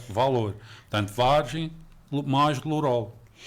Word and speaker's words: Valour: e dar valor e muitas pessoas pronunciavam de uma forma francesa valor valor portanto mas é valor portanto Vargem mais lorol